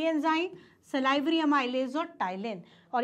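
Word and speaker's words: ptyalin: Is also known as टाइलिन, ठीक है, पटाइलिन नहीं, पी साइलेंट, टाइलिन, ठीक है, टाइलिन।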